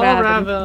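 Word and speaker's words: Fjällräven: It's pronounced Yeah, Fial Raven. Fial Raven.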